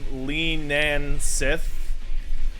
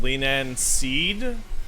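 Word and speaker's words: Leanan Sídhe: So you see that's Lee Nan Sith, but in the Irish, right, it's pronounced Leanan Seed, and Leanan Seed drops Leanan Seeds.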